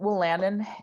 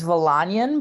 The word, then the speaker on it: Wolanin: live yeah no worries it's uh I usually pronounce it we'll Landon it's polish so technically it's valanian but will Landon is the accepted Americanization okay well Landon got